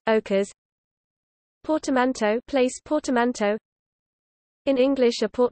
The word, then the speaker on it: occas': Can be shortened as piece d'occas or even occas, pronounced ochres.